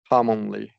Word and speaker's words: commonly: Don't and also in commonly don't shorten this. Do a full short O. Commonly, yeah, commonly, yeah, okay.